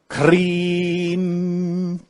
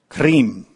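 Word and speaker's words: Krim: is from Sanskrit, which we spell K-R-I-M, but it's pronounced Kreem, so that I is an E sound. Kreem.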